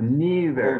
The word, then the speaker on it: neither: by saying there's a there's a more british pronunciation never but neither god i always have